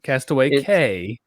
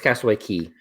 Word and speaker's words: Castaway Cay: is a big question is it cast it's spelled Cast Away K yeah but it's Cast Away key why why because it's